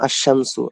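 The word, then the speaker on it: الشمس: উচ্চারণ হবে না, বরং লামটা উচ্চারণ না হয়ে তারপরের যে অক্ষরটা আছে সেখানে তাসদিদ হবে।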